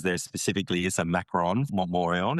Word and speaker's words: Montmorillon: spell that. Montmorillon? Montmorillon.